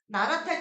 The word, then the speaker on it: 나랏: 나랏할 때 나는 앞에 아무런 점이 없지. 그게 무슨 성이야? 평성이야. 평범하게 낮은 소리로 발음하셔야 되고, 랏할 때는 어떻게 돼요, 지금? 점 하나 찍혔으니까 거성이지. 소리가 높아져야 돼. 나랏 이렇게 올라가야 돼.